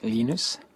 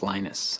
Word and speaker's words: Linus: I speak Swedish it's heinous when I speak Finnish it's Lee knows when I speak English it's Linus and I really don't care how people browse my name but linux is always